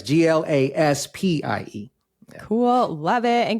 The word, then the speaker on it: Glaspie: People often don't know how to pronounce it or spell it once I say it. So that's right. It's Glaspie.